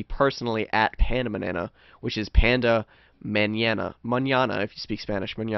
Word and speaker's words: Pandamanana: You can also follow me personally at Pandamanana, which is Panda Manana. Manana, if you speak Spanish. Manana. It's spelled the same way, but it's pronounced Pandamanana.